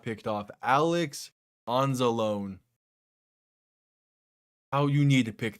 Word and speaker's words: Anzalone: Probably mispronounced that. But how was that not picked off? Alex Anzalone.